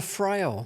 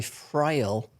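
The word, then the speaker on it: Friel: I taught me about lesbians oh yeah Anna frail oh yeah first lesbian kiss or fril what are you going with there I I'd I'd say fril what did you say from gold she's in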